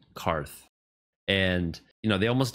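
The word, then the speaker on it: Qarth: Daenerys made it to karth not quarth karth and you know they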